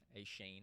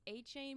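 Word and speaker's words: Achane: I'm pretty sure when I first saw him in college, I was calling him like a Shane or something. I don't know. All I can say is he's A-Chain with the A-Train.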